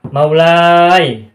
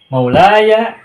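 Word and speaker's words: مولاي: dibaca fathah tidak sukun sehingga tidak akan kita temukan cara baca mawlai tidak ditemukan makna mustafai Hawaii itu tidak kita temukan melainkan harus Maulaya makna Ya Mustafa ya bahwa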